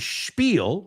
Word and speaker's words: spiel: And spiel. Spiel. Okay. Spiel rhymes with peel.